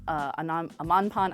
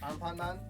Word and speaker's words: Anpanman: In Japan, Doraemon and Amanpan, I can never say it right, they're really